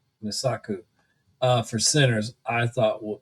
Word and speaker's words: Mosaku: Well, um, and I'm gonna say her name wrong. Woo! Emmy Wii wi wii moaku. Mosaku.